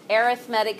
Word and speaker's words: arithmetic: when it's by itself when you put it in front of the word sequence you pronounce it arithmetic sequences if you say it